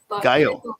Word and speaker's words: Geil: press and today we are talking with gayle and am i pronouncing that correctly uh it's scale gail yeah okay fantastic sorry i i'm i'm gonna